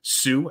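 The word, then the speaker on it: Siouxpercon: just super con s-i-o-u-x-p-e-r-c-o-n Sue as in like Sioux Falls um per con that's how you can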